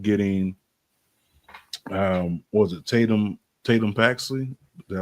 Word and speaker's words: Tatum Paxley: And she was eliminated and we end up getting um was it Tatum Tatum Paxley? Did I say her name right? Yes. Tatum Paxley ends up winning it and the bird bird